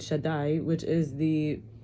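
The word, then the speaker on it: שדי: master, and then El, it's pronounced Shakai, but really it's Shin Daled Yud, Shaddai, which is the name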